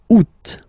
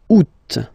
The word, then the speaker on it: août: And then here, two options, because, well, two options are acceptable in French. The first one, you don't pronounce the final T. Ou. Ou. Ou. Second one, you pronounce it. Août.